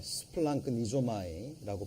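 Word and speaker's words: σπλαγχνίζομαι: 이 민망이라는 거는, 자, 원어적으로 뭐 이렇게 스플랑크 니조마이라고 발음이 되는데요.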